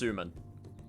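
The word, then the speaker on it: すまん: we're there already senpai so uh suman it's pronounced suman okay thank you you are a better weeb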